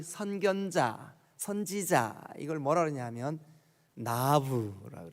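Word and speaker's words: נביא: 히브리 말로 이 선견자, 선지자, 이걸 뭐라 그러냐면 나부라고 그래요. 나부. 우리 한국말 발음으로 이렇게 날아다니는 나비 있죠. 발음이 똑같아요. 나비 혹은 나부.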